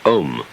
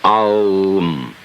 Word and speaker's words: Om: Chief of these is the syllable Om, or Aum, called the pranava, or the sound of God, because it involves the whole range of the voice from the back of the throat to the lips.